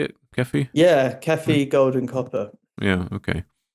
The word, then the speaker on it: Kefi: Yeah, Kefi, gold and copper.